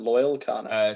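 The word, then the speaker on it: Loyle Carner: How do I spell that? Loyal Kana.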